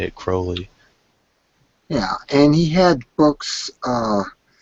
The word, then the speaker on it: Crowley: Remember that, not Crowley. It's Crowley. His name is Crowley. Crowley. And people keep pronouncing it Crowley.